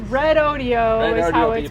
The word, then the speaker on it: Redodo: wrong anymore because I've red Odio Yeah it's red Odio pronounced okay it just now dropped the 99% battery